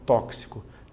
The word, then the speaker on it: tóxico: Se você fizer essa pronúncia, acabou. Porque você vai achar o mesmo número de letras e fonemas. Mas se você se lembrar de que é tóxico, você vai observar, ó, tóxico, táxi.